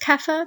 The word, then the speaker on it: kaffir: Bantu language-speaking peoples that my apologies is actually pronounced kaffir but I don't like the term and that's